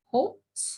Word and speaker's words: Schultz: And we have Miss Lindsey Schultz. Is that how we say our last name? I meant to ask you before. It is. That special silent H in there kind of.